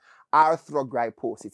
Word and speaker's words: arthrogryposis: it this is many years of attempts to pronounce it for me so i've gotten it right this time arthrogryposis it's a a condition that affects your joints